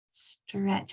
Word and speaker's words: stretch: The T is silent, you don't hear it.